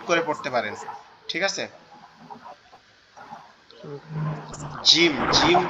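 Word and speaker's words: ج: এই যে আমরা কাচির মতো একটা অক্ষর দেখতেছি, এটার নাম হচ্ছে জিম। এটার নাম হচ্ছে জিম। জিম। জিম। আমরা প্রতিটা হরফ বলার সাথে সাথে এটার উচ্চারণের স্থানটাও জেনে নিব।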